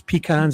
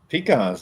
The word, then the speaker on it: pecan: But there was pecans everywhere. I loved it in Georgia. Pecans, at least you say it right. Pecans. Some people say pecan, right?